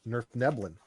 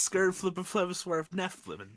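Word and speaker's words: Svirfneblin: Nerf Neblin. Nerf Neblin? Yeah. It's Swerve Neflin.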